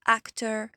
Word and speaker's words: actor: On a tendance à prononcer or, R. Non, c'est juste prononcer comme si c'était ER. Donc actor, particular, elevator.